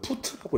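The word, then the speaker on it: Foote: F 읽어보면 푸트라고 읽고요.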